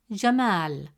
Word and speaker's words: jamal: Instead of pronouncing it as ma, the presence of al if makes it ma. As a result, the correct pronunciation of the word is jamal.